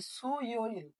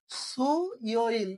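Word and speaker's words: 수요일: ইয় ইল, তাহলে সু ইয় ইল কি হয়ে গেল?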